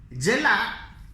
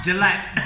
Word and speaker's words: jelak: Jelak is Jelak. Okay. It's a Malay word. I will edit this in. Okay. So spell it along with us. Jelak. Not Jelat.